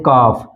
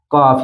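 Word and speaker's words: calf: इसी तरह वुड, तो ये तीन वर्ड जो है ये डी से पहले है इसलिए यहाँ पर यल साइलेंट है। नेक्स्ट हम देख लेते हैं कॉफ, कॉफ यानी कि यफ से पहले यल कब साइलेंट रहता है।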